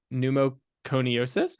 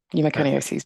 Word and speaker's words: pneumoconiosis: Her clinical interests include occupational lung imaging, specifically in the areas of silicosis and other pneumoconiosis. How do you say it? Perfect. Pneumoconiosis.